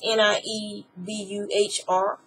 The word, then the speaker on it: Niebuhr: is attributed to Reinhold, I think you say his name, Niebuhr. It's Niebuhr.